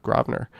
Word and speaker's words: Grosvenor: Notice the correct pronunciation of Grosvenor.